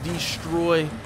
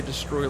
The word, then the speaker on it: destroy: There is some tires on there that will absolutely destroy your vehicle. I am not sure why I always say destroy like destroy. I put the wrong emphasis on the wrong syllable.